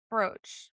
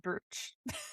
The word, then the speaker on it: brooch: I knew that it was pronounced brooch, but I said brooch.